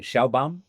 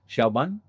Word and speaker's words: Sheinbaum: Sheinbaum. Hyunban. Sheinbaum.